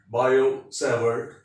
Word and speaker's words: Biot-Savart: formulated by these two biosevered this t is silent biosevered and is given in